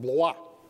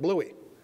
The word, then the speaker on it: Blois: Officers who were relieved were sent to a chateau named Blois, B-L-O-I-S, I think it's spelled. But the Americans hacked it up and they pronounced it Bluey.